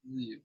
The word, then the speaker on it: Bilyeu: Number 1, I'd probably have to say Tom Bilyeu, I believe is how you pronounce his last name. Impact Theory. Yeah, and Tom Bilyeu.